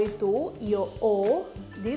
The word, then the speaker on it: ho: Jadi kayak O itu, io O, jadi tulisannya tuh pakai H sebenarnya 2 kata, HO, tapi dibacanya O. Io O, H-nya tuh agak sedikit silent ya.